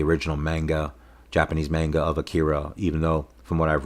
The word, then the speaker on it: Akira: director of um Akira or as I see it in the film they pronounce it Akida um but I'll probably say Akira for the rest of the